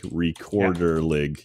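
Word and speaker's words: Rekorderlig: gonna look right now recorder like recorder League it's spelled like an ass yeah yeah our ek Ord er lig yeah it's very like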